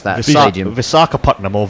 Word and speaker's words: Visakhapatnam: How would you like to pronounce that stadium? Visakhapatnam, or Vizag as it's commonly known.